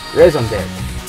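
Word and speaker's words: raison d'être: new Lola single, and I remember how to pronounce it properly. Raison d'etre.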